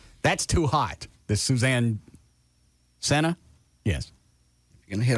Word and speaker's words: Senna: Senna. Yeah. Senna's a natural laxative that helps you remember how to say it.